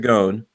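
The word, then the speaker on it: Ghosn: goon looks like ghost in but it's pronounced gone has been credited with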